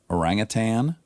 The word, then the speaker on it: orangutan: SAA drowning there's there's two other words I say correctly that no one says correctly what orangutan and neander tall those are both that's both the correct ways to say those words reminds me of when